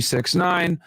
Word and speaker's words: 6ix9ine: So Danny Hernandez, born May 8th, 1996, known professionally as 6ix9ine, styled as 6ix9ine and pronounced 6ix9ine, and formerly as Tekashi 6ix9ine, is an American rapper.